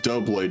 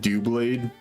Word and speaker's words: Doublade: going because it's pronounced the Pokemon's name is pronounced Doublade because it's double blades but I like I like calling it do blade because it's more fun